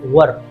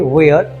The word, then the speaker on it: were: you action अब देखो many people they pronounce वर guys many people से वेयर सो नॉट वेयर वेर हमारी action incorrect होगा हम इसको वेयर नहीं पढ़ते बोलते हैं वर क्या बोलते हैं बोलेंगे